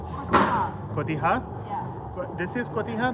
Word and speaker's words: cotija: And they all have different types of cheese like Chiapas cheese and Yeah, cotijos. Cotija.